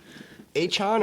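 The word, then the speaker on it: Achane: A-chan or A-chain? Achan. How is it? Achan.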